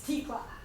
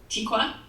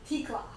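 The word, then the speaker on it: Tekla: It's Tikla. Tikwa? Tikla. Okay. T-E-K-L-A. How do you spell it? It's T-E-K-L-A. Oh, Tikla. Okay.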